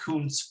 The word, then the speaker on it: Kuntz: Well, his name is actually pronounced Kuntz, but I had to buy it.